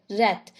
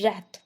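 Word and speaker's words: wrath: से स्टार्ट हुआ है पर व उसमें साइलेंट है रात जिसकी हिंदी मीनिंग होती है क्रोध यानी की गुस्सा उसे क्या बोलते हैं रात वेरी ग्रेट एंगल यानी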